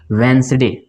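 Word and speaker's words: Wednesday: वेडनेसडे होता है क्या होता है इसमें दी साइलेंट हो जाता है इसको पढ़ते हैं हम लोग vensday क्या पढ़ते हैं चलिए उम्मीद है आपको ये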